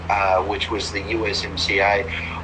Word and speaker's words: USMCA: uh, which was the USMCA. I always like to think it rhymes with YMCA, the song.